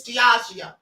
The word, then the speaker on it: Diageo: But now he also did the same thing with the suit he had against Diageo. Or Diageo. I'm sorry, it's Diageo. All right, I finally looked up the pronunciation.